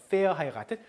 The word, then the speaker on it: verheiratet: verheiratet. 자, 요거 fau죠. fau. 요거는 발음이 F죠. 그래서 ver가 아니고 fair.